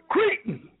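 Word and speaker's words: cretin: But when you look up the word Cretan, I love to say that word, Cretan, C-R-I-T-E-N, Cretan.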